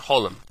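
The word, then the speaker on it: חולם: Chirik, Patach, Shurik, and Cholim. Those are pronounced as follows. Kametz is O, Patach is A, Segol is A, Tzerei is A, Chirik is E, Shurik is U, and Cholim is O.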